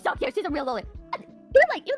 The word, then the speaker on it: loli: No, and by the way, I pronounce it lolly, like Lolita, which is the fucking book that the term originates from, alright? Anybody who says fucking lolly, you know, like Disney here is cringe.